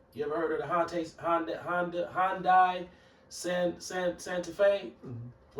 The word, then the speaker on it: Hyundai: That's the correct pronunciation of how to say Hyundai. Some people say Hyundai, but the correct pronunciation is Hyundai.